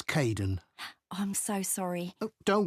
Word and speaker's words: Kaeden: Hi, Aidan. It's Caden. I'm so sorry. Oh, don't worry. People often get my name wrong.